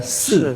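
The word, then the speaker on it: 四: Karena angka empat dalam bahasa Mandarin pelafalannya adalah se se se se itu sama persis dengan meninggal dunia.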